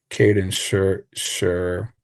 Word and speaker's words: Kaden Sher: Kaden Sher. Um I I know the name. Yeah, Kaden Sher is how you say his name.